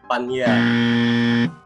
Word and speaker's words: Panya: Sebenarnya hampir sih, hampir belum sempurna benar, karena itu dibacanya Ekanit Panya. Oh. Bukan nye. Tapi berarti ditekanin di N ya? Iya, Panya, bukan Panya.